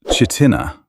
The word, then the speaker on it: Chitina: Pronounced Chitina by locals, which is important because mispronouncing it marks you immediately as someone who does not belong.